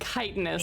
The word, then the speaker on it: chitinous: chitinous?